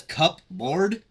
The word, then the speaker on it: cupboard: cover it just says cup board the p is silent the P so it's